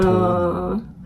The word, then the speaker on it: 돈: 저도 예전에 한 학생이 자기는 되게 똥이 좋대요. 그래서 자기는 똥이 너무 좋대요. 그래서 뭐라고 너무 당황스럽잖아요. 네네네네. 제가 뭐 어떻게 말을 해요. 어떡해. 근데 알고 보니까 돈이더라고요. 그쵸? 돈. 네, 돈을 그렇게 발음을 해버리니까.